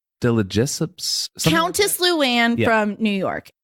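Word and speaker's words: de Lesseps: Delajessups.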